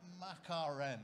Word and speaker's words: Makarem: Makarem. Is that how you pronounce it? That will be fine, yeah. Makarem, okay, fine.